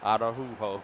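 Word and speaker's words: Araújo: But you might be saying it right, because I see on the U I have a dot, so it may be Araujo. Araujo.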